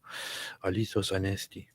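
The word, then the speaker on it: Αληθώς Ανέστη: Alithos Anesti. Is that how you say it? Aha. Alithos Anesti.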